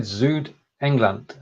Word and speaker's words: Südengland: Der Kennet-und-Avon-Kanal ist ein Narrowboat-Kanal in Südengland. Pronunciation. Well, just the last word. Do you want to try that one again? I said Südengland.